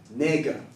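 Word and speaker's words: 那个: In Mandarin, it's pronounced nega. Yeah, it sounds just like the n word.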